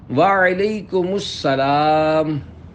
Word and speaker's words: وعلیکم السلام: جواب سناتا ہوں، پھر آپ اس کو دہرائیے۔ وعلیکم السلام۔ رضائے حق کے لیے تم سلام عام کرو،